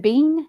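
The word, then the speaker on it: Biehn: And then, uh Michael, is it Bean? Is that how you say it? Bean. I think it's Bean.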